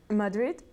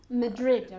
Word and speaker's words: Madrid: in English they're great Madrid Madrid I mean you're speaking English try to say the names of the places in English the pronunciation of Maverick